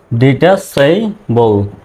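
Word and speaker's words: detachable: বল বিতে ব এলতে ল আর শেষের ইটা সাইলেন্ট ডিটাইবল এটা মূলত এরকম উচ্চারণটা হয় সেই ডিটাইবল খুলে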